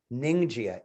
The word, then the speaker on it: Ningxia: called ningxia it's a little hard to see it's spelled n i n g x i a ninja n i n g x i a ninja